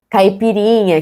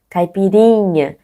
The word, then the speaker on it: caipirinha: Vous voyez que le plus fort, c'est les rinha. Caipirinha. C'est pas caipirinha, c'est pas caipirinha. Caipirinha. C'est ça, parce qu'il n'a pas un accent, donc la 20 dernière syllabe, c'est la plus forte dans la langue portugaise normalement.